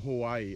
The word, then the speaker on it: Hawaii: why do people from Hawaii always say Hawaii they like break it up it's because of the vowels oh okay so our vowels are all pronounced differently and they're all pronounced separately oh okay all right so